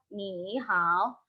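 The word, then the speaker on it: 你好: Ini adalah modulasi nada yang pertama, yaitu ketika nada ketiga bertemu dengan nada ketiga lagi, maka nada ketiga yang pertama akan menjadi nada yang keempat. Akan menjadi nada yang kedua, maaf.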